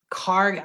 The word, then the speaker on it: Kharg: Karg Island.